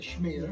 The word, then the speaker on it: schmear: So he's talking about Nikki doing that German schmear, and we discussed that's the correct way to say it, schmear.